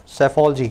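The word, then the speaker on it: psephology: सेफोलॉजी, ठीक है, spelling देख लेना, लास्ट शुरू हो रहा है P से, P बोला नहीं जाता, साइलेंट होता है, सेफोलॉजी, है ना, सेफोलॉजी।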